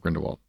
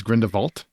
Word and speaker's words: Grindelwald: i saying it wrong it's not grindelwald it's grindelwald that's how they say it i don't know why they say it like that but they say it like grindelwald like vult like we're french or something but it's grindelwald no it's german german oh it's germany